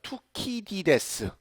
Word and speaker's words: 투키디데스: Graham Allison intriguingly laid out his ideas about the 뭐야 이거 투키디데스 그렇죠? 투키디데스라고 발음되네요.